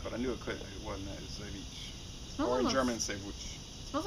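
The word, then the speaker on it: Żywiec: Zywiec. You love saying that. No, because I had so much trouble learning how to pronounce it.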